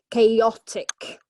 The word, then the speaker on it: chaotic: falls okay interesting okay so it's three syllables and the stress falls on the second syllable okay chaotic it's chaotic so very good some